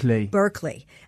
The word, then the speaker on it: Berkeley: That's how you say it. Berkeley.